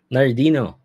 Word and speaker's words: Nhardino: Sir, paano palang pinopronounce yung pangalan mo sa YouTube? Nardino, Nardino, Nardino yeah.